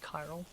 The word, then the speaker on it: chiral: You know it's pronounced Kyro, but okay. Sure. Chiral.